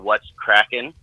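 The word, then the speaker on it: What's Kraken: It's called What's Crackin'? Keys Fishing Adventure. Yeah, I wanted to get that again. Can you spell it out for me?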